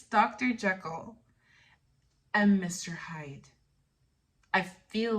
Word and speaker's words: Jekyll: Jekyll and Mr.